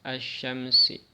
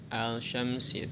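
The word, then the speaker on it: الشمس: Cara membacanya alif lamnya diidghamkan ya. Diidghamkan, dimasukkan ke shin. Jadi tidak dibaca al-syamsi tapi alif lamnya dimasukkan ke huruf bertasydidnya. Kalau di sini shin. Jadi asyamsi.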